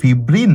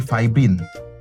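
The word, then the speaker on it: fibrin: LePage নাকি lipase ওকে এটা কি ফিব্রিন নাকি ফাইব্রিন এটা কি ফিব্রিনোজেন নাকি ফাইব্রিনোজেন এই উচ্চারণগুলো আছে এখানে নাটরি বললে কোন ভুল নাই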